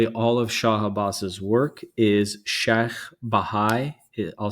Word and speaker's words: Sheikh Bahai: The architect of really all of Shah Abbas's work is Sheikh Bahai. I'll spell it. It's SHAYKH BAHAI, Sheikh Bahai.